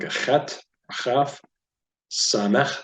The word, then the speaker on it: Samech: Samech, so it's not Samech. By the way, there's no CH sound in the Hebrew language, so that's usually you